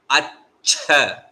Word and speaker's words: अच्छ: Hear it properly. It's not accha. It is not accha. It is not accha. It is accha.